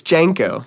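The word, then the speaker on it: JNCO: Janko, which is J-N-C-O. It should just be Junko. It's Janko.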